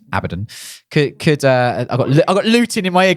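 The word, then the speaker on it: Abaddon: Couldn't do a bad abbod. I keep saying that name wrong. It's abbidon.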